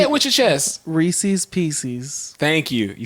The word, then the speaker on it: Reese's: So if it's the peanut butter cup, it's a Reese's.